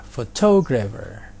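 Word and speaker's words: photographer: kata berikutnya foodcourt grafer fotografer jadi ini katanya kata ini terdiri dari empat syllables dan stresnya ada diisi label yang kedua Hai bagaimana dengan fotografik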